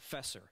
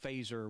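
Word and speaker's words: Feser: faser it looks like fesser Fe R but it's pronounced phaser with an like a laser with a F and what what Ed faser does in his book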